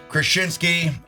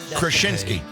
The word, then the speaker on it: Kraszewski: Jack Krushinsky Krushinsky. 100 Did I pronounce it wrong one time?